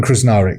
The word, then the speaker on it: Krznaric: with Roman is it krznarich how do you pronounce his name Roman krar yeah krar yeah yeah he's he's a friend